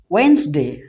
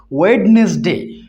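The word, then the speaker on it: Wednesday: ওয়েন্সডে। অনেকে এটা কি বলে? ওয়েডনেসডে। অনেকে এটা কি বলে? ওয়েডনেসডে, অর্থাৎ উচ্চারণ ভুল করে, কিন্তু এর অ্যাকচুয়াল উচ্চারণটা কি?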